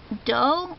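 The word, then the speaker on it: D'oh: It's Doe. It's the sound Homer Simpson makes.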